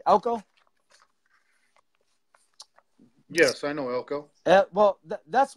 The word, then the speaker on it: Elko: elk obviously you know elk or herd of elk Elko I'm pronouncing elk oh yes I know well